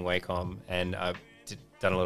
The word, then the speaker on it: Wacom: one day i i heard them actually say wacom and i was like oh wait is that how you pronounce it like yeah it's wacom and i'm like you know